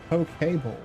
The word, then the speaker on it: poke bowl: Pronounced poke bowl.